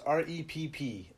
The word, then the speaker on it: Repp: REPP SPORTS. I thought it was Rev. Did you really? No, it's Rep.